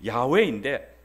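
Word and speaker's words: 야웨: 모이 모음을 붙일 때도 원래 발음이 야외인데 여기에 아도나이 아는 어 주라는 그 모음에 그 단어에 그 모음들을 따와 가지고이 야외에 붙였습니다 야외는 원래 모험이 없습니다 그러니까 거기에 붙여 가지고 나오는 것 발음이 뭐냐면 지금 우리가 아는 여호와다 사실 유대인들은 지금도이 야외라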